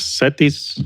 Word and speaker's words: CETYS: But to make it simple, eventually we branded as Satisi University.